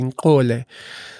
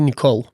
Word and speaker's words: Nicole: Am I pronouncing it correctly? Nkole." And she unmutes herself. She says, "It's actually Nicole."